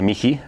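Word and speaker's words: Michi: A los se les dice Miji, pero se escribe M-I-C-H-I. Claro, y se te quedó ahí.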